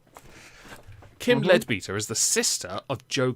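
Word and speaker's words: Leadbeater: lets you name things it's probably lead beta because it's spelled l-e-a-d i'm sorry but lead is spelt the same way and lead beta is a lot funnier kim ledbeter is the sister of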